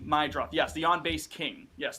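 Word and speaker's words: Meidroth: Meadroth? I never know how to pronounce his name. Chase Mydroth. Show some respect. Mydroth.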